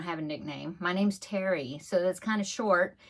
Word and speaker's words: Terri: and he called me not funny my dog's he called me and that's just how he pronounced my name Terry you know I don't